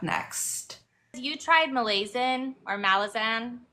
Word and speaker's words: Malazan: you tried Malayan or malisan I think we say it Malazan and the British say say it Malaysian so I never know